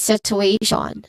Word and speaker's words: situation: So when we see a spelling that has a T-I-O-N on it, it is most likely pronounced as shon. Again, shon.